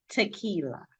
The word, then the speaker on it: Takila: name for me again tequila tequila y'all see I've been saying it wrong it's tequila like like like the worm like the drink tequila right right all the